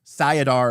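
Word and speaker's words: Saidar: sadin was infinite uh or sadar and sine I can't I think that's how you're supposed to pronounce them but I've always pronounced them sidar and sine but anyways um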